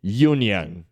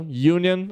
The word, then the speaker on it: Union: é mais importante tá então Union é Sindicato inglês tá então ele vai ser pronunciado desta forminha aqui you tá você vê que é o mesmo comecinho aqui tá e uma outra